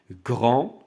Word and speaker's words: grand: le grand le grand D à la fin ne se prononce pas d'accord grand c'est tu es dans